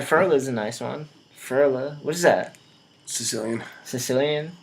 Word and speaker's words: Ferla: Ferla. What is that? Sicilian. Sicilian? I pronounced it correctly. Yeah. Ferla. People nice. want to add things to my name. They want to be like.